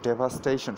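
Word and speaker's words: devastation: তো ডেভাস্টেটের উদাহরণ, নাউন ফর্মটা কি, এইটি ডেভাস্টেশন, উচ্চারণ হলো ডেভাস্টেশন, সব একার দে, ডেভাস্টেশন।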